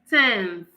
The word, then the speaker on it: tenth: Tenth, tenth. All right? It is pronounced as tenth. You can look at the spelling. You would see that it is different from tens, as in the whole number.